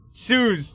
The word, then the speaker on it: Suz: His name rhymes with like Suits. Suz, thank you.